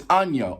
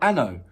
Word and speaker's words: Ano: So it's Anyo. I'm going on Google Translate, literally, because I looked at that, I thought Anno.